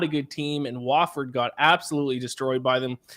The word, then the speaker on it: Wofford: The Drake Bulldogs, minus 12 against, how do you pronounce it? Wofford, I believe, correct?